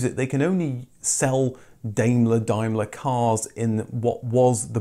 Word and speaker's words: Daimler: Yes, I know that Brits say Daimler, not Daimler. Well, I do now that you've made it very clear in the comments. I'm very sorry, I said it wrong.